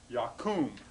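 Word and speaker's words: יָקוּם: Normally, in hollow verbs, the accent is here, right? Yakum.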